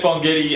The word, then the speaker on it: Bongetti: don't like it matt bongetti uh 22 points 22 points it's a soft g is it yeah okay